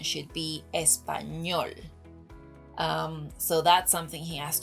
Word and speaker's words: español: Another thing that I have to mention is that he says español, which is understandable because the letter ñ is